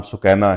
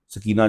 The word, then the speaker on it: सुकैना: मेरी वारदा का नाम सुकैना है, सकीना जिसे बोलते हैं। हाय हाय, असल प्रोनाउंसिएशन सुकैना।